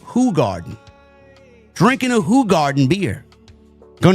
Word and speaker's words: Hoegaarden: You know, it's actually pronounced Hoegaarden. It's It's spelled Hoegaarden, but it's pronounced Hoegaarden.